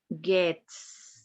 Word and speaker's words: gets: Gets. Gets. You have to pronounce that S.